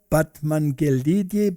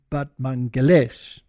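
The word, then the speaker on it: Batmanghelidj: Now, there was a scientist, and his name was this one over here, Batmangelidi, but apparently you pronounce it Batmangelesh.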